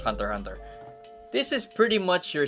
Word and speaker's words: Hunter x Hunter: I know it's pronounced Hunter Hunter.